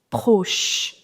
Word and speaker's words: proche: But in French, the pronunciation of CH is sh. So, it is proche, or you can say proche, okay?